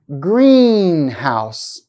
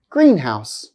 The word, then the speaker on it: greenhouse: rules and more examples compound nouns often have stress on the first part listen carefully to the examples I'll hold the stress for one second the first time Greenhouse Greenhouse father-in-law father-in-law compound adjectives